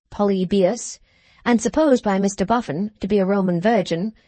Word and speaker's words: Polybius: Hadrian, Trajan, and the Antonines, stumbling at Polybius, pronounced Polybius, and supposed by Mr.